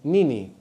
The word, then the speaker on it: nini: The word for what in Swahili is nini. Another repeated syllable, no? Nini.